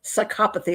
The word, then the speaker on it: psychopathy: Psychopathy is the way you're supposed to say it now.